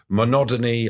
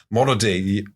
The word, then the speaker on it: monody: a political effusion entitled monotony on Major Andre monody monody on Major Andre put a couple of extra syllables in there that were not necessary yeah it's basically a